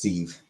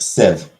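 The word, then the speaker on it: sieve: I'd assumed it was seeve because it's spelled s i v how is that Civ s IE v e it's like a thing that you uh s like five this I'm pretty sure it's pronounced s yeah s Civ for some goddamn reason it's pronounced Civ for draining pasta yeah yeah like a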